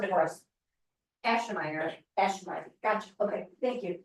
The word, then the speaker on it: Aschemeier: Okay, say, all right, now pronounce it for us. Ashmeyer.